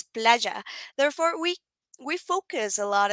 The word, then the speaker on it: playa: double L in Spanish, or the Y, it's called Y, it's pronounced like this, like J, like playa. So basically, for example, you can learn or you can read a word that has that Y and read it as playa, but no, it's not. It's playa.